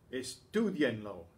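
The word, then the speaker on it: estúdienlo: Notice that the lo tacked onto the command, the positive command now, changes the way that that we want to keep the stress on the same syllable we had it without the lo, estudien, so we have to write the accent in.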